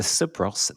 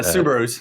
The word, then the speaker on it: Subarus: Okay, this is from either the Subros, the Subros, or the Subros, depending on how I want to pronounce this. Subarus.